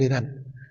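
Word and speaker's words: Lérins: Como decía San Vicente del Herán, se escribe Lerin, pero en francés se lee el Irán.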